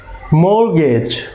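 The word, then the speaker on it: mortgage: Next যে word সেটা হচ্ছে যে অনেকে এখানে একটা টি দেখতেছেন আপনারা, এই টিটার কোনো সাউন্ড আসবে না, টি সাইলেন্ট থাকবে। দ্যাট মিন্স এখানে হবে মর্গেজ, মর্গেজ।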